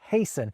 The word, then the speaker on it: hasten: We stop pronouncing the T's in words like castle and hasten, and the L's in folk and palm disappear for a lot of people.